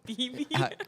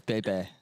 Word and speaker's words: Bebe: Am I saying it right? BB. It's Bebe. Bebe. We call her Bebe.